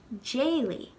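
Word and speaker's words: d'éiligh: When we put it in the past tense, it becomes jayly, because the first vowel in that verb is an E, which is a slender vowel. So we wouldn't say daily, we would say jayly.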